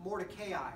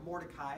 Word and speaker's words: Mordecai: in her story focusing on on mordechai or mordecai however you like to pronounce it and see that his